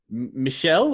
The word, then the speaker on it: Michel: Is his name Michelle or is it Michael? It's Michel. So I think I've heard both pronunciations.